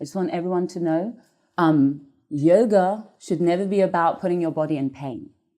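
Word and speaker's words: योग: So how do you pronounce the word yoga? Yoga comes from the ancient language Sanskrit, the ancient language of Sanskrit, and it is pronounced yog.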